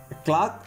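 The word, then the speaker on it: clock: அப்போது லாக், பிளாக், buck, கிளாக், acknowledge, acquit, இந்த மாதிரியான வேர்ட்ஸில் என்ன ஆயிடுதுங்க, சி சைலண்ட் ஆகிடுது.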